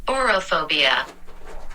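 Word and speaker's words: aurophobia: Orophobia. Orophobia. Orophobia. A-U-R-O phobia. Oro, like gold.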